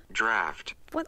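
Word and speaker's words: draught: as drought animals let me see how to pronounce that draft why the is it spelled like that okay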